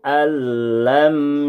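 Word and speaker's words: أَن لَّمْ: Pada ayat ke-7 di surat Al-Balad ini ditemukan nun sukun model yang kedua, yang cara membacanya adalah dengan cara dibuang nunnya karena bertemu dengan tasydid. Perhatikan cara membacanya. Ayahsabu allam yarahu ahad.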